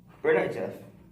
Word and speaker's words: Berdichev: It's pronounced Berdichev.